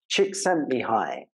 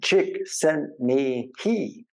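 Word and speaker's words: Csikszentmihalyi: by a man called chick sent me high I used to have a girlfriend whose name was he and so I made up this pronunciation chick sent me he chick sent me high unfortunately he died last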